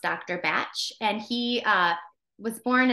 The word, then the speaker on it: Bach: of you might have heard this as Dr Bach I thought it was Dr Bach um but I learned in school that it's actually pronounced Dr batch and he uh was born in the 1930s